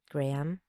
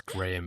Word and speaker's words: Graham: Graham. I always find it funny when people pronounce Graham as It's Graham. Graham. It's not Graham, It's it's Graham.